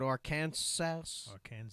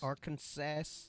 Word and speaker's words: Arkansas: Even though it's spelled Arkansas. Arkansas.